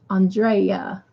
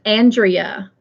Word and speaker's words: Andrea: And not Andrea. So it's Andrea, not Andrea. Because see, down here in South Carolina, they say it both ways, Andrea and Andrea.